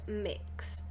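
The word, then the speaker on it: Mx.: to hear so I learned that this is pronounced mix so excited to hear mix dog announce the winners it's like a gender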